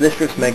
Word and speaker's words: Lister of Smeg: My name is Lister of Smeg, that's how you pronounce it. It's not pronounced any other way, it's pronounced Lister of Smeg because it's 3 separate words.